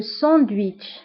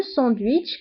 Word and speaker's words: sandwich: Sandwich هو le sandwich le sandwich le sandwich. فبالفرنسية le sandwich كنطقو لا lettre T مع أنها ما مكتوباش كنقولو le sandwich.